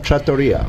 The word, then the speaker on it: trattoria: Trattoria. It's trattoria. I've always been saying trattoria. Trattoria. You know what? I did too. I always put the emphasis American, on the wrong syllable.